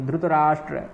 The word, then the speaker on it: धृतराष्ट्र: पूर्ण उच्चारण करना है धृतराष्ट्र उवाच ट्र है यहां कहीं कहीं धुत भी बोल देते हैं जो दक्षिण भारत में मूलतः धुत का प्रयोग होता है गुजराती इत्यादि लोग भी धुत का ही प्रयोग करते